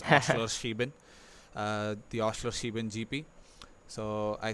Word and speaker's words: Oschersleben: And yes, unlike you, I am an expert in pronouncing this track's name. It's Oschersleben, the Oschersleben GP.